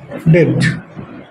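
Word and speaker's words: debt: ব্যাড ডেট, ডিই বি বি ঠিক দেখা যাচ্ছে এটা ব্যাড ডেট। আচ্ছা, এই ব্যাড ডেট বা এই ডিবিটি এখানে কি বিটা সাইলেন্ট থাকবে, ব্যাড ডেট, ঠিক আছে।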